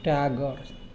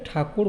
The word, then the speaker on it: Tagore: ঠাকুর না ঠাকুর না টাগর টাগর আমরা বাংলাতে ঠাকুর বলি কিন্তু এটা উচ্চারণ হবে টাগর তো এনার সম্বন্ধে আজকে